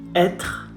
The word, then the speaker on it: être: The final E, when you see the vowel, the letter E at the end of a word, 95% of the time you do not pronounce it. It's not Italian or Spanish. Sometimes they do. In French, we never.